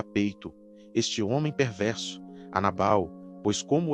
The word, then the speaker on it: Nabal: No primeiro livro de Samuel, capítulo 25, existe um personagem chamado literalmente Nabal, que no original hebraico a pronúncia seria Naval.